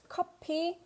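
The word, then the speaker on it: 코피: nose bleed remember that copy is coffee but copy is nose bleed so here cop coper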